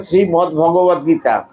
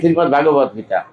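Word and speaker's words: শ্রীমদ্ভগবদ্গীতা: উচ্চারণ আমরা ভুল করি এখানে লেখা আছে শ্রীমদ্দ ভগবত গীতা আমরা অনেকেই বলে থাকি শ্রীমত ভগবত গীতা ঠিক না আপনারা লেখাপড়া জানেন ওখানে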